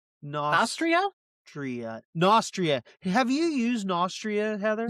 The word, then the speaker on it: Nostria: Nostraria? Nostria? Tria. Nostria.